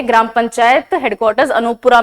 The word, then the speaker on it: अनूपपुरा: अब ये अनोपुरा, यहां पे अनोपुरा लिखा हुआ है because this is हाउ you right it in English, वरना इसका प्रोनाउंसिएशन है अनूपपुरा।